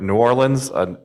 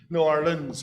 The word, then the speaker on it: New Orleans: New Orleans without the long E. I think that would be probably more acceptable than my pronunciation.